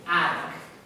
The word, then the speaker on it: attic: And number 5, attic. Everyone, attic. You gotta be careful. There's a trick in American English. I'm American. Double T's in American English. We use D's.